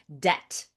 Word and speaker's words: debt: Debt. Good word to know. Pronunciation alert. There is a pronunciation alert. There is a silent B in debt, but it is not pronounced.